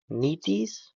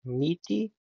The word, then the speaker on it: Metis: Side note, before I get roasted in the comments, I know it's pronounced Metis or Meaty.